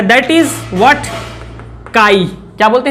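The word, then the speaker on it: χ: काई। क्या बोलते हैं इसको? काई। काई, वेयर इट इज काई, प्रोनाउंसिएशन इज काई, बट अब यही तो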